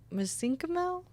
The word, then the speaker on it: mesenchymal: So do you think bone marrow or mesenchymal?